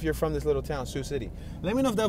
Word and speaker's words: Sioux City: I did not know how to say Sioux City. To me, it looks like Seox or like Sox. It's spelled S-I-O-U-X.